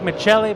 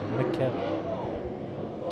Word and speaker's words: McKelly: It's spelled like Michelli, but it is McKelly.